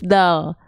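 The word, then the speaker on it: دال: seperti ini tuh kelihatan jadi ujung lidah kita kita sentuhkan ke Pangkal gigi serari atas kita gigi serari atas kita punya gusi gusi tempat tumbuhnya itu ditempelin pakai ujung lidah kita Iya nah ini huruf Dal da di du AD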